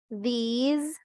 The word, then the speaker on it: these: ¿Se acuerdan que cuando ya es plural va con Z, la pronunciación de este?